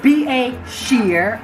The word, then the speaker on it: Beshear: everyone Maybourne today today he became Beshear is be a shear is how you pronounce it in Bentley's v8 ship can't sail